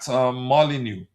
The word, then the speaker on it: Molineux: I never knew that the X um uh you I never knew that the X is always is silent.